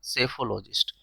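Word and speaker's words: psephologist: ठीक है, next, one who studies elections trends by means of opinion polls, उसको हम क्या बोलते हैं, सेफोलॉजिस्ट। पी साइलेंट रहेगा, सेफोलॉजिस्ट।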